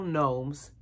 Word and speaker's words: gnomes: we're making some seasonal gnomes or gnomes if you want to pronounce the G you know the g is silent so don't pronounce the G but like if it's